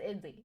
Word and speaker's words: idli: is American pronunciation though give me you know whatever language this is pronunciation idly okay it says idly okay perfect idly pronounce idly you can